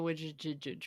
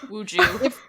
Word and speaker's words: Ouija: I think it's actually ouija because Oh. What? because it's yes in English and German, isn't it, or something like that?